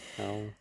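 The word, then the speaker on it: Hywel: Howell.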